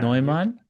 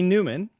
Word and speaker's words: Neumann: Is it should I give the German pronunciation? You You can. Yeah. Noman. Noman. Yes. So, I usually have people call me Newman because Newman's easier in English, but yes, Noman.